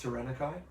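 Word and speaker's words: Taranaki: tyan tanaki hard court it's pronounced tanakai oh okay is that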